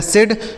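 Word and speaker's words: said: आगे देखिए लिखा है एस ए आई डी। एस से हो गया दोस्तों स। इस ए और आई से ए की मात्रा। डी से हो जाएगा ड इसे पढ़ा जाएगा सेड मतलब क्या हो जाता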